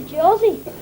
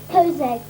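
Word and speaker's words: José: joanne and his brother jersey i think you'll find it's pronounced juan and jose spanish pronounced other jays like hatred anyway what months did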